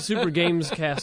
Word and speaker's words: Super GamesCast: Back to Super GamesCast 64. We gotta pronounce the S in there.